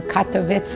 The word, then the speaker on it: Katowice: i was born in katowice or katowice as they pronounce it in polish in poland when were you born february 7 1937.